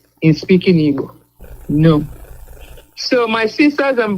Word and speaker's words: Igbo: Igbo land can say is that GB. Igbo. They cannot make that sound.